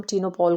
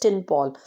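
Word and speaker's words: Tinopal: पुराने समय से हम टीनो पोल को यूज करते हैं वो actually it इज टिन पोल बट उसका जो एक्चुअल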